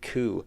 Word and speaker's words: coup: Coup is spelled with a P. Thought it was like coup. Yeah, it's pronounced coup, but there's a P.